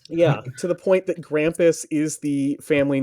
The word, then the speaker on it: Grampus: Grampus rhymes with Krampus.